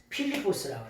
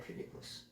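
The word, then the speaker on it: Φίλιππος: 필리포스라고 그래. 필리포스. 이 필리포스라고 하는 말이 뭐냐? 빌립의 원래 발음은 필리포스예요.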